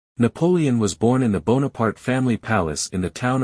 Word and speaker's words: Bonaparte: preferred to pronounce his name as it is pronounced in French Napoleon bonapart and this became the custom among people also